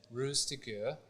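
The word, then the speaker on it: Ruse de Guerre: oh so operation Fortune Rose to gur I believe it's pronounced this was a film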